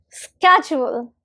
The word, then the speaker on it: schedule: And the stress is on the first syllable. SK. It's on the sk first syllable. So it'll be pronounced as schedule.